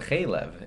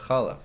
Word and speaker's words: chalav: He said chalev instead of chalav. Chalav is milk, and chalev is fat, a whole different word.